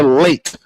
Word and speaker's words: Leite: It's Carla Late as in being late for an appointment like I was nearly late tonight.